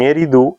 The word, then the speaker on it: Eridu: En Eridu, ahora Zecharia Sitchin le coloca acento en Eridu, en el sur de